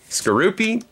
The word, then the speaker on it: Skorupi: How do you pronounce this one? Skorupi? Yep. Skorupi.